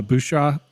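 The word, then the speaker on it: Bouyea: you with Chris uh bua bua how do you say it B bu like Bobby bu like in water boy it's like I just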